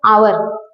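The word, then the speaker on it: hour: रखना है प्रोनाउंस का हम यहां पे प्रोनाउंस क्या कर रहे हैं आवर ठीक है क्या प्रोनाउंस कर रहे हैं आवर ना कि हावर ठीक वैसे ही एंड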